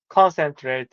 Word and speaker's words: concentrate: And to, concentrate is a first syllable.